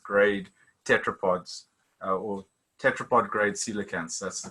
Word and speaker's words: coelacanth: fin or celiacanth grade tetrapods or tetrapod grade celicans that's the correct way to say so we